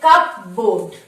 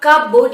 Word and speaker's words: cupboard: Number 1 দেখো covered, কিন্তু এখানে লেখা আছে কাপবোর্ড। কি লেখা আছে? কাপবোর্ড। ইট ইজ 2 syllable words, দুটো সিলেবল ওয়ার্ড, মানে দুটোকে ভেঙে আমরা বলছি কাপবোর্ড, কিন্তু এটা কিন্তু রং। ইট is wrong. It ইজ নট কাপবোর্ড, ইট ইজ কাপবার্ড।